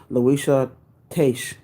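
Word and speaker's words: Luisah Teish: Louisa Taish. What's her name? You spell it Luisah. Last name is Teish.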